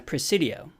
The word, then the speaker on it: Presidio: takes place in a presidio which is the Spanish military settlement and Presidio rhymes with coccidio so that's a good way to remember it and recalling this drawing